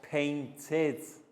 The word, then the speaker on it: painted: painted all together guys painted edie pronounced as id well done that was